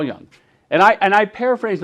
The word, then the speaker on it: Jung: beings that was by carl junga i think is how you say it you know carl young and i and i